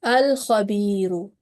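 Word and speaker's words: الخبير: And in next example, lam is followed by letter kha in this noun, and kha is also a Qamari letter, so this tells us that we have to manifest the lam or to pronounce lam clearly. This is called the manifestation of lam. Okay, so the word is al-khabiru.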